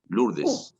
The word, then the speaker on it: Lourdes: George es el O-U es un, es una pronunciación en francés, se pronuncia U, Lourdes.